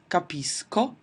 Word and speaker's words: capisco: So what I have is capisco hard pronunciation and then capisci and capisce, which is soft, capiamo, capite is normal and then again I go back to the hard pronunciation, capiscono.